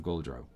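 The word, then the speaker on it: Gauldrone: I called g-a-u-l d-r-o-n-e so so goal and then drone okay you see even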